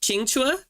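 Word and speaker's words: Qingque: simplify it um but her name I believe is pronounced chinga oh yeah most people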